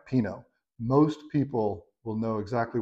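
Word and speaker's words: Pinot Noir: right so first up let's learn how to say panut Noir peanut noer peanut new how do you say this word no one knows how to say it well if you get in that sticky situation and you're just not comfortable with it try Pino most people will know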